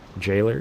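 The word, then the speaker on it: Gaoler: Or should I say it pronounced Jaller? Jaller. Okay. I I appreciate that. Gow is the jail. Gow is the old way to spell jail.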